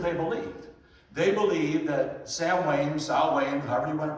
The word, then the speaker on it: Samhain: And that was known among the Druids as Samhain, or Samhain, as we pronounce it.